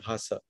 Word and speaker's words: Bhasa: And then he says, up until the 10th or 11th year of being at Margi, I did not know about Bhasa. Am I pronouncing it correctly?